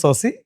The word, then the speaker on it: Sabhsai: It is pronounced as Saucy, but it is, if you see the spelling, it is Studio Sapsai.